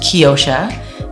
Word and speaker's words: Keyosha: It's pronounced Keyosha, meaning key of the ocean.